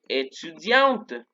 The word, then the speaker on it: étudiant: Ellas van a escribir, je suis étudiante, ¿sí? Porque étudiante es el femenino, ¿vale? Entonces, ojo, si yo digo, yo soy hombre, je suis étudiant, no se pronuncia la T, je suis étudiant.